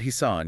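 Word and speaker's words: حصان: Himar and Hissan use the letter H. It requires sharp friction.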